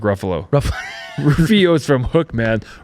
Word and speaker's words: Ruffalo: No, Mark Rufio. Okay, Is that how you pronounce his name? Mark Ruffalo.